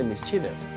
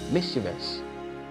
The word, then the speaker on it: mischievous: you go like mischievous some persons will say mischievous means cheapest so if you say mischievous that means your primary stress is in the second syllable which is completely wrong okay so your primary strategy is on mix so you go like